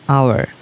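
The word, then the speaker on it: hour: Okay, an আওয়ার, এগুলোর উচ্চারণ হচ্ছে অ্যান আওয়ার।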